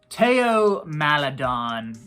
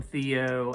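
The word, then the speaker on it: Théo Maledon: where I called him Theo and a guy uh put into the comments uh actually it's pronounced Teo so he's no longer Theo madon he's Teo madon the H is silent uh but Teo madon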